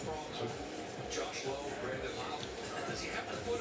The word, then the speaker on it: Lowe: This is Brandon Lau. It's Josh Lowe. Just spelled the same.